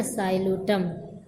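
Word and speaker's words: Psilotum: plant है साइटम है यहां भी पी लिखेंगे प लिखा जाएगा लेकिन पढ़ा नहीं जाएगा है ना साइटम ऐसे ही लाइक सड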